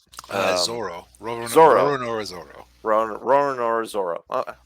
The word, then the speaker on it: Zoro: Zoro. Zoro. Roronoa Zoro. Or Zolo, however, depending on. Yeah. I forget how they pronounce it in this one. There's been dubs that treat it differently.